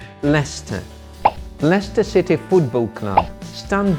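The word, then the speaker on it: Leicester: the Soviet post so he please letter L Lester Lester City Football Club stand the world in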